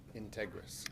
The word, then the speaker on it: Integris: to say this wrong is it tear grass or integrass architecture design of the renovation Street administration building how do you pronounce the name of the company Integris Integris thank you oh it's